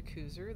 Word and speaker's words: Kuser: Hey y'all, I'm Kuser. That S is pronounced like a Z, but it doesn't matter.